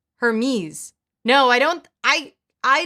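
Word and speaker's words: Hermès: mispronouncing Hermes it's brilliant I don't think you're supposed to say the H heres Hermes no I don't I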